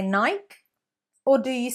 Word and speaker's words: Nike: 2 syllables, not 1. Elongate the E. Nike, not Nike. Nike.